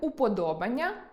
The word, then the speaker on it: уподобання: Наприклад, іменник уподобання має наголос на о.